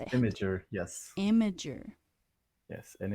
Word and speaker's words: Imgur: Imager, yes.